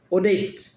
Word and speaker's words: honest: वो वोवल्स है, ओ ओ ओ ओ ओ, silent H, ओ ओनेस्ट ओनेस्ट ओ नेस्ट एन ओनेस्ट।